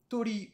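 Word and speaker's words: とり: On se souvient qu'on a le kanji du blanc qui se prononce hiro ou haku, le kanji de l'oiseau tori ou cho, le kanji du mouton hitsiji ou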